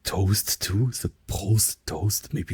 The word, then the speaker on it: Prost: Basically, you can have much fun just like practicing the like R sound, right? Like in like Prost.